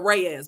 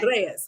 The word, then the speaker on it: Reyes: But I said I'll go ahead and just I'll just go ahead and say it the way everybody else in America says it, Reyes. But no, it's Reyes.